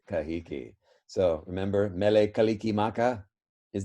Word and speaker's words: Kahiki: with a t but hawaiians actually took that t threw it out and replaced it with the sound that tahitians already had which is a k so tahitians have both t and k but hawaiians cannot say the t anymore they have no tea it's all gone bye-bye so tell me now how you think that hawaiians say tahiti yes exactly kahiki so remember mele kalikimaka